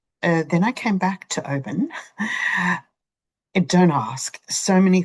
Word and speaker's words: Oban: Then I went across to Oban, not Oban, Oban, and stayed for 2 nights. Then I went up north and then I came back to Oban.